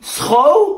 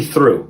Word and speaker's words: through: How do you pronounce this word? Oh, yeah, that's though. Though. Okay. So then this must be throw? No, come on, that's obviously through.